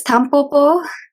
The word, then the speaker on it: Tampopo: So, it's Tampopo. Okay. Maybe, yeah. You can just say like Tampopo, I think, in English pronunciation.